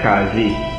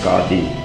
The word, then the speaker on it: Qadi: In Trinidad they call it Qazi. The correct pronunciation is Qadi.